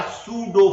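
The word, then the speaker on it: pseudo: कहेंगे, हम क्या कहेंगे, they are सूडो force, PSUDO, P इसमें साइलेंट है, सूडो फोर्स।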